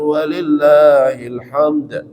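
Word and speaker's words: وَلِلَّهِ الْحَمْدُ: Yang benar adalah walillahil ada alif lam. Jadi dibaca alif lamnya. Walillahil hamd.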